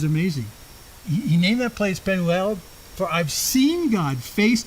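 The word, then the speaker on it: Peniel: this place penel or it's actually translated um a couple of ways penel um another way is to say penu that's the pronunciation guy but the the the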